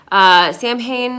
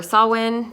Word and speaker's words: Samhain: Mabon and then I have this one on Samhain or saw when depending on how you pronounce it um to kind of explain how